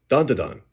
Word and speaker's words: Dan Da Dan: Don Da Don. Yeah, that's how you say it.